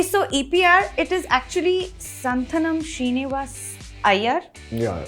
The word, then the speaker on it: Santhanam: Okay, so EPR, it is actually Santhanam Srinivas Iyer. Yeah, it's basically Santhanam Srinivasan Iyer. One sec. Please, can you say it again? Santhanam Srinivasan Iyer.